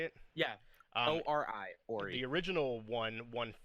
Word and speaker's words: Ori: Ori? Is that how you say it? Yeah. ORI, Ori.